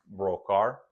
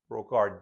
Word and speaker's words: Brocard: In English, I think it's Henri, Henri Brocard. Brocard D is silent as far as I can tell, and he lived between the years of 1845 and 1922.